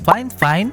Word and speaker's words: FIFINE: Fine Fine pala yung pagbigkas nito mga guys ha.